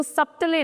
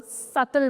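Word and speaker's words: subtle: इसके अंदर B silent होता है और लास्ट वाला ए भी तो इसको सप्तले नहीं इसको सतल पढ़ा जाता है। सतल आई लाइक दी सतल कलर्स ना कि आई लाइक दी सपतल कलर्स।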